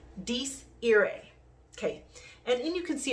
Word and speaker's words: Dies Irae: It's Latin, okay? And I'm pretty sure I'm pronouncing this correctly. Dies Irae.